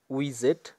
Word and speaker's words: widget: মূলত এটার উচ্চারণ উইজেট, এখানে WIDGET, তো এটা মূলত ডিকশনারিতে উইজেট উচ্চারণ, এর অর্থ কৌশল বা পদ্ধতি।